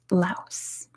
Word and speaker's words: Laos: It is Laos. or Lao, depending where you are from the world. It is Laos. In America, we pronounce the S because we're American.